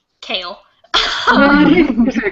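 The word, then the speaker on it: Chaol: And then the guard is much more kale. I don't know. It's kale. Kale. He's much more reserved, like the salad.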